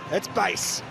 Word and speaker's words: Buis: for Colombia so Dian base the correct pronunciation is not Bo it's base there might be a